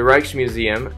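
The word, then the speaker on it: Rijksmuseum: that's actually fantastic is a art museum the reichs museum as I believe is pronounced is a popular art museum in Amsterdam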